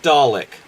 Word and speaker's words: Dalek: Dalek or Dalek? Dalek. To rhyme with garlic, basically.